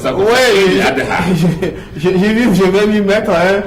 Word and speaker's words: Eid al-Adha: Oui, Eid al-Adha. je vais m'y mettre. Hein. Tous ceux qui prononcent mal, il faut leur montrer que désormais c'est Eid al-Adha.